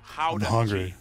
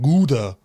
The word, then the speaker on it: Gouda: joy of the nation howdy yep that's how you pronounce it guys really how the how the how the not gouda oh and keep in